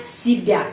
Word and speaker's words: себя: yang mencerminkan itu Siba kita menulis sebya Tapi bacanya sibya Kenapa karena penekanan pada huruf ya karena penekanan pada huruf ya Jadi huruf ye itu yang namanya di alfabet huruf y tapi pengucapannya I karena tidak mendapat penakanan